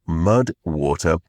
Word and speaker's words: MUDWTR: That is where the supporter of today's podcast comes in, Mud Water, and it is spelled MUDWTR. So Mud Water.